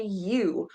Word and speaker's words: Ewe: A lady sheep is called a ewe. So her name is Ewe. E-W-E, that spells you. Silly old thing. E-W-E spells Ewe.